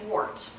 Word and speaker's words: wort: And you're not saying wort. No, it's like spelled on your face. Right, it's spelled W-O-R-T, but it's pronounced wort.